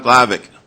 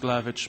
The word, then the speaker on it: Glavic: 258, Glavic. You have 3 minutes, sir. Go ahead. It's pronounced Glavich, by the way.